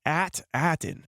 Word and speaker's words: At Attin: name for this planet at attin Yes you heard that correctly at attin possibly a little nod at the pronunciation of the 8 walkers at attin is the